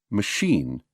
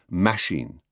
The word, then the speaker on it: machine: say British or britsh always machine never machine or mashine the weight we give